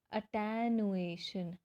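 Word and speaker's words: attenuation: अब इस वर्ड को प्रोनाउंस करना है अटेनुएशन। अटेनुएशन का मीनिंग क्या होता है? देखो, अटेनुएशन तो उसको पढ़ना कैसे है? A-double-T, टैनु, ए और TION, शन, अटेनुएशन, ठीक है।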